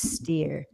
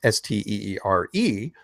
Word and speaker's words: Steere: For those who haven't picked up on this yet, Patricia signs her emails Miss Steere, but since her last name is not spelled Steer, it is Steere. Phonetically, it kind of comes out as Mystery.